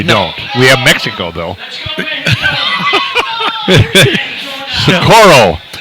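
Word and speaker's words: Socorro: we have Mexico though sakuro sakuro Perez you know how I know how to pronounce sakuro cuz we have a sakuro New Mexico Oh 40 50 miles south Albuquerque yeah and she's opening up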